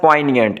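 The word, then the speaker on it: poignant: फिर वर्ड है हमारे पास पॉइनिएंट, इसमें जी साइलेंट है, जी को आपने पढ़ना नहीं है, तो इसका मतलब है तीखा या बहुत तकलीफ दे या दर्दनाक।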